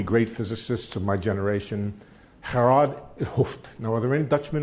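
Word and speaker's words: Gerard 't Hooft: Okay, so you'll have to accept my pronunciation, Gerard Hooft.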